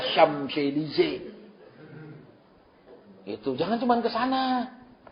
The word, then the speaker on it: Champs-Élysées: Itu yang tulisnya Champs-Élysées itu. Bacanya Champs-Élysées.